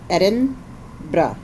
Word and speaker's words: Edinburgh: and so edinb edinb we asked several people according to the experts how to say how do the locals say it and it was basically Eden BR and being from Hawaii